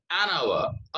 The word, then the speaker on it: hour: So H is not pronounced here. That's why we have to say an hour.